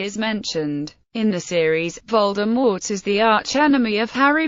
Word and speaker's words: Voldemort: According to an interview with Rowling, Voldemort is pronounced with a silent T at the end, as in the French word mort, meaning death.